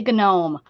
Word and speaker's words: gnome: No wonder you say gnome. Yeah. Yeah. And I had to say it that way or I wouldn't be able to spell it.